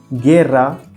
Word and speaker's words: guerra: Same rule applies to the combinations of GUE and GUI. The U is silent. It also helps to maintain the G sound as we have in the English word go.